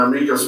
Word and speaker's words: amicus: department to write an amicus brief or amicus brief, I've heard it pronounced both ways, basically kind of the court brief to support your side.